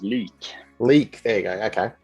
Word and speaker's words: Lik: you so uh your other band is it lick or like how do i pronounce that one uh it's uh pronounced leak leak there you go okay um because november